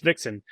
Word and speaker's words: VXN: Meet the VXN, pronounced Vixen, from Ankor Industries, the